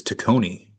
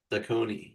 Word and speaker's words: Taccone: So, oh, I just realized I've been pronouncing his name wrong. It's It is Yorma, but his last name is Takone. Takone.